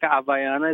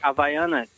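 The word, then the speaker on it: Havaianas: You say it like Havaiana, not the way you guys saying.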